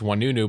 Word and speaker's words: Oinounou: spelled cuz I mean for those unfamiliar it's one new but it's spelled o i n o u n o u.